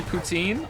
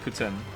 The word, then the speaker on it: poutine: good but it's not pretend some people say poutine I said poutine for a long time sometimes I still do say poutine but apparently it's actually pronounced Putin Lily wants to move to Montreal and I'm